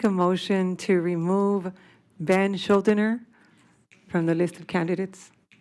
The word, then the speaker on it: Schuldener: So at this time, I would like to make a motion to remove Ben Schuldener from the list of candidates.